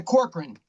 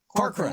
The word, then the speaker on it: Corcoran: Yeah, Corcoran. Corcoran is the best way to pronounce it.